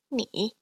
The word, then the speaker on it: 你: So this is pronounced like this. 你. Again. 你. So notice how my tone drops from about just slightly below medium pitch, and then rises to just slightly above medium pitch.